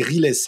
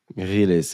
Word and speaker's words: Riles: très répandu quoi donc les gens il le prononcent un peu à l'américaine mais non c'est Ress en fait Ress ok du coup Ress